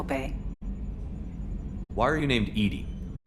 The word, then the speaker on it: EDI: behind the medical Bay why are you named Ed Ed is the phonetic pronunciation of Ed d i that is an